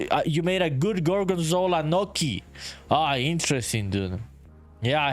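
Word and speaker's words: gnocchi: Yankee says it's pronounced Noki. Oh, Noki.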